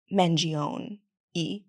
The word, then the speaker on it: Mangione: the hot assassin Luigi mangion e you pronounce the e at the end I'm not Italian okay